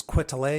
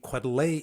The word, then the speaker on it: Quetelet: I think his last name is Quetelet is how you say it.